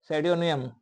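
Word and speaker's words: pseudonym: लेखक के द्वारा एक इमेजिनरी नेम अस्यूम अपनाया गया सेडोनियम पी सड सैडोनम सैडोनम या सेडोनियम ठीक है पी साइलेंट कर दो और सेडोनियम पढ़ दो इसको ठीक है सैडोनियम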